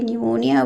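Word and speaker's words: pneumonia: देखिए यहाँ पर आपने एक और चीज़ समझनी है कि निमोनिया वर्ड जब आप लिखते हैं उसमें पी साइलेंट होता है।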